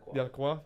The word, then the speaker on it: Lacroix: And Maxence, is it Lacroix? Lacroix. Yeah, I wanted to make sure I smashed the pronunciation.